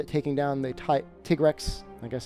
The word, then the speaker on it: Tigrex: taking down they type tigrex I guess he's officially pronounced to take Rex for this one that